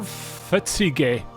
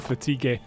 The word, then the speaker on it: fatigue: My marthur ple to create a restore fetig. When I when I was a kid, that's how I pronounced the fatigue.